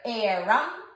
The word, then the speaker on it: eram: Well, it's not spelled like air as in A-I-R, but it sounds like it. It's a homophone, right? It sounds like it. It's E-R, eram, eras.